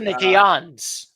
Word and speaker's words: Canadiens: How do you pronounce it? Canadiens.